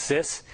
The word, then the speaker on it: CIS: Basically, CIS, it's pronounced sis.